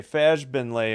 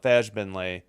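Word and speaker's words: Fagbenle: Okay, Fajbenley, her first foul. Again, I know her name is pronounced with a hard G, but I'm doing it to play it safe with the soft G.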